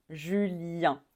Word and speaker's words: Julien: on finit encore avec une voyelle nasale un Julien Julien alors alors ici on prononce Yve Yve on prononce pas le S